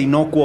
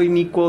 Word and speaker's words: Inicuo: la película de repente hay gente que dice inocuo o sea nadie lo pronuncia bien entonces pues ya por eso le quedó inicuo dos puntos la hermandad